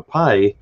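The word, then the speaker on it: π: somebody what's the number pi uh you know if if they if they knew what the letter was um of course in greek is pronounced p not you know whole different story there but i mean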